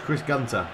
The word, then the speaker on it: Chris Gunter: I call him that it's not he's Welch Chris Gunter is how you pronounce it I only say that Richie the